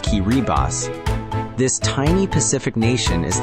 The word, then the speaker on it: Kiribati: It's Kiribati, pronounced Kiribass.